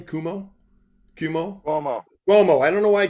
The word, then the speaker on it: Cuomo: How do you pronounce his name? Cuomo.